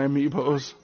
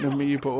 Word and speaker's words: amiibo: Tim Tebow, please look at my amiibos. Oh, you've got a nice set of amiibos. If anyone's wondering why I'm calling them Tim Tebow, it's just because it rhymes with the word amiibo.